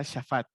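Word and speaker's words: שָׁפַט: Dice juez, la palabra hebrea, bueno, ahí dice juez, en hebreo se pronuncia shafat.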